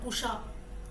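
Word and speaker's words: Kusha: Sea then you have Pusha k-u-s-a pronunciation is k-u-s-h-a surrounding Iran Iraq all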